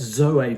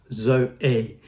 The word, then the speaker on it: zoe: happiness exuberance energy vitality so it's zoe pronounced zo a another greek word comes